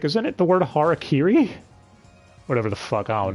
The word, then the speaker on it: harakiri: Or harikari, because ADV doesn't know how to say harakiri.